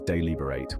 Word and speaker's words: deliberate: a deliberate artistic Choice the pronunciation is deliberate with the stress on the second syllable you can use it